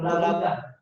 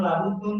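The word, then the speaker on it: لا بد: Kemudian fala budda, maka harus, itu terus bacanya itu la budda. La budda begitu terus bacanya, tidak perlu la budun, la budin.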